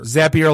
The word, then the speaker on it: Zapier: Zapier like happier.